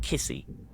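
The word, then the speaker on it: Kisi: So, it's called Kissy. K I S I Kissy.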